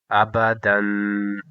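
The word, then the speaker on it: أبدًا: Amza zabar a, ba zabar ba, dal do zabar dan, abadan. And here is, look it, that last letter, the alif letter, is silent. Abadan.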